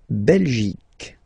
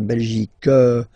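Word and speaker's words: Belgique: French okay okay La belic okay remember here you will get only the sound C okay belic belic so it's not belg not at all okay because it's only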